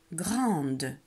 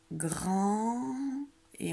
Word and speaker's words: grande: Et il y a un E muet à la fin du mot.